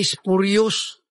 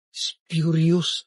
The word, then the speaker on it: spurious: Hoy, Mr. Congressman, hindi spurious, spurious ang pronunciation.